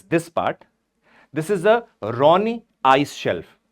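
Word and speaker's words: Ronne: This is a Ronni ice shelf written as R O N E but pronounced as Ron ice shelf.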